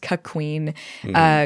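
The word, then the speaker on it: cuckquean: It's spelled cuckween, like E-A-N, but it's pronounced cuckween.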